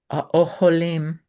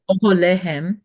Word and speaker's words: אוהליהם: Vayekumu vayanusu beneshef vayazvu et האוכלים, Try again. את אוהליהם, Mhm, אוהליהם, ואת סוסיהם, mhm.